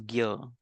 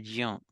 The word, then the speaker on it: ज्ञ: In Marathi I say ज्ञ, in Hindi it says gya, in some other language they'll say jya. So it In is Sanskrit, pronounced it in a says different way. Gnya.